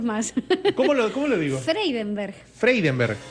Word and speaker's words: Freidenberg: Freneberg. Y cuando lo pronuncias es fatal. Sí, ¿cómo no lo pronuncies más? ¿Cómo lo digo? Freidenberg. Freidenberg. Sí, tenés una N por ahí que te está molestando. Sí, Freidenberg.